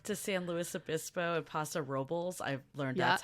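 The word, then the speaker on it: Paso Robles: did a trip to san luis obispo at pasa robles i've learned that's how you pronounce it yeah which is what i and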